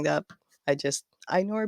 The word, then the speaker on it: Ainur: go on forever anyway um my name is einor obviously my last name is i wouldn't dare anybody try pronouncing that i just i nor b uh i am from kazakhstan uh i